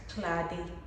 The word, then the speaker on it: Clade: My name is pronounced Clade. Clade. So it's my native name, means class mother. You have to pronounce it with a Grebo accent, like Clade.